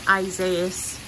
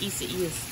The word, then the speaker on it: Isaias: That's how you pronounce it. It's not Isaias. It's Isaias.